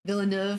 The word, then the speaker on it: Villeneuve: Villeneuve. Is that how you pronounce it?